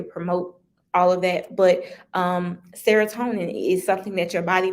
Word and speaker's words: serotonin: After you have sex, your body also releases serotonin, rhymes with melatonin.